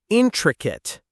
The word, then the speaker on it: intricate: Let's try intricate. Intricate. The stress is on the first syllable. The word ends with a kip sound, not kate.